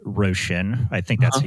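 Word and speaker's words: Róisín: Yeah, Roisin. Roshan. I think that's Uh-huh. how you pronounce Russian.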